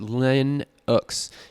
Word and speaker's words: Linux: mac os over windows linux pronounced len x is a family of